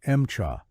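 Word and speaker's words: Emcha: They nicknamed it MCHA, a Russian pronunciation of M4.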